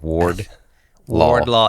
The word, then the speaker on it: Wardlaw: of the law says I don't know why people can't say my last name but it's it's exactly how it's spelled Ward law I think it makes